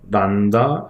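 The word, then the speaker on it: λ: 그래서 L은 란다 S, 요걸 란다라고 읽어요. 그리스입니다.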